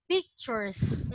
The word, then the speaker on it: pictures: Again, do not forget to pronounce the letter S on the last word. Pictures.